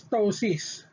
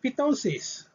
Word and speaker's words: ptosis: it's a prefix okay next we have pt silent p so the example is ptosis so she's not pitosis okay again it is